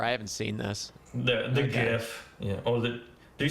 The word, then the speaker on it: GIF: think the inventor said it's GIF, but he might just be some sort of troll. Because Yeah, no, it doesn't matter. I'm sorry. yeah, I mean phonetically, it's a G. It's a hard G, like in the English language.